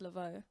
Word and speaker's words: Lavaud: on the app oh it's at i am leveaux so i am l a v a u d but it's pronounced leveaux um yeah and same on instagram and everywhere